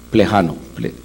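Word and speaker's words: Plejánov: Plejano, así se pronuncia, que es el papel del individuo en la historia.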